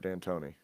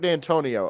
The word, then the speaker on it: Dantonio: Yeah, I think it's Mark Danton. That sounds right. U It is. It's Mark Dantonio. Okay, so I was right. I knew I said it wrong. Yeah. And like Antonio, Dantonio is the basketball coach.